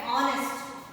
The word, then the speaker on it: honest: If the word is silent, like honest. Okay? Honor. What we should use? H is silent here.